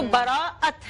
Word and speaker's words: براءت: کچھ لوگ شب بیرات بولتے ہیں، کبھی کچھ لوگ برات بولتے ہیں. تو براءت ہے اس کا صحیح تلفظ.